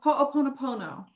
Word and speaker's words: Ho'oponopono: Ho'oponoponoponoponopono.